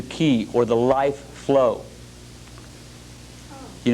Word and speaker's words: chi: third one would be the key see that Chi sometimes it's spelled k i this is the key or the life flow